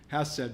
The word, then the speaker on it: Chesed: Well, we know that Beth means house, and there's the word Chesed. Apparently the C is silent. Hesed means mercy.